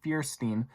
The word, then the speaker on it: Fierstein: this is Harvey Fierstein I said his name wrong the first time we'll say they write this time Fierstein ah he was cast